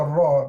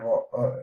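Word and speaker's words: ر: speakers, to ensure that when they are pronouncing the Ra, they pronounce it as if it's the first letter of Ra, first letter of rabbit, rabbit. You're touching it, okay? And care must be taken to ensure that the tongue actually collides with the palate when pronouncing the Ra. You must touch the palate.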